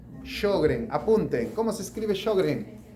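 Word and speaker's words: Sjögren: llama esa enfermedad autoinmune empieza con síndrome de shogren shogren apunten Cómo se escribe shogren s o J J s j o g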